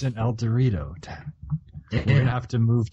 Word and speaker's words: El Dorado: Of El Dorado, but in Kansas we have a town called El Dorado, which is spelled the same, pronounced differently.